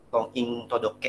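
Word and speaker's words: 婚姻届: Konging Todoke ya, ini bacanya Konging Todoke.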